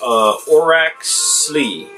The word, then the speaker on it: Orach Slie: this is harvestin and i believe it's pronounced or Axley and it means golden